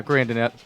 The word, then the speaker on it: Grandinette: Grandinette, I believe is how you pronounce his name, Thomas. Is that correct? Yeah, Grandinette. Yep. Had an 8.18 ERA coming